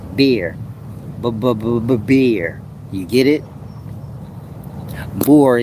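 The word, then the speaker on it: Buer: is ethanol, that's what beer is made out of. So the demon is called bore, b u e r, but it's really pronounced beer.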